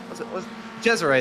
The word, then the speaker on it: Cesare: It's Cesar in the number 444 car, the 444 for, and says Cesare, was Cesare, there we go. It took me a little bit, but I finally got the pronunciation right.